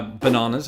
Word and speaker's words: banana: Again, it's not the extension of that A. I think that's that's one of the things that really sets Brits and Americans apart when it comes to pronunciation is is our treatment of vowel sounds, but specifically A vowel sounds.